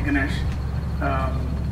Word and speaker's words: Ganesh: You can call me Ganesh. Just pronounce as you see the word.